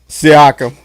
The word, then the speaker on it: Siakam: And what's you look at Indiana, and it seems like it's been Sycam. Sycam, that's how you say it. Siakam.